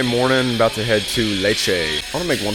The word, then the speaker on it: Lecce: Saturday morning about to head to Leche. I want to make one thing abundantly clear because I've gotten some confusion recently. Leche is Spanish for milk.